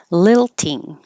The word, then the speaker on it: lilting: Lilting. Lilting. The vowel is I, so don't let your tongue get too high like li. Keep it lower.